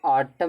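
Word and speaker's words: autumn: देखो N silent तो ऑटम में एन साइलेंट होता है।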